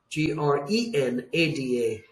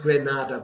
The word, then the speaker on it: Grenada: the name of Grenada G re n a DA not pronounced Granada but Grenada the French were the